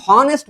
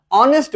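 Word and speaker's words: honest: দেখো, এই যে অ্যান অনেস্ট ম্যান, এই যে দেখো, আমরা এখানে হনেস্ট বলি না, অনেস্ট বলি, অর্থাৎ কনসোনেন্টের উচ্চারণটা এখানে হয় না, এইচ এর উচ্চারণটা এই ক্ষেত্রে হয় না।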